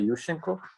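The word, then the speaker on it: Yushchenko: overthrown by Yusen Yusenko let me pronounce the Ukrainian way Yusenko and um uh that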